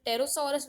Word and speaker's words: Pterosaurus: This is the Pterosaurus with a P in the beginning, which is silent.